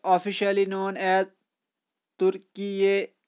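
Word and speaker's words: Türkiye: तुर्की will know B officially known as तुर्की, ये इसको हम प्रोनाउंसिएशन करेंगे तुर्की ये, और इसकी स्पेलिंग होगी अब टी यू आर के आई वाई, और प्रोनाउंसिएशन है इसकी तुर्की ये.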